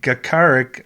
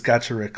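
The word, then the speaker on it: Gacharic: from gotcha rick spin i think it's gotcha rick someone told me it is so i was pronoun pronouncing it gakarik on my last video but someone said it's gotcha rick so i hope that's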